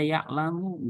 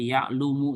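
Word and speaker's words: يَعْلَمُ: Contoh gini, ini harus dibaca ya'lamu, nggak boleh seperti yang suruh misal ya'lumu, ya nggak boleh.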